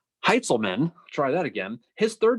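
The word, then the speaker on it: Heintzelman: heiselman's heights oh god he pronounced his name heitzelman try that again his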